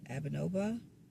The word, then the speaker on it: Abnoba: and this spirit is Abnoba. Did I say that correctly, Malachi? You got it. You pronounced it perfectly.